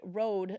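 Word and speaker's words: Røde: on a video, and we all pronounced it Rode. Haha, silly Americans, I guess. But the thing is, you might not be wrong because they're all of them in the YouTube videos are pronouncing it Rode, like you spelt there ROAD. But here's me going Scandinavian, and that is actually, I mean, it's not a 0, it's an actual letter that.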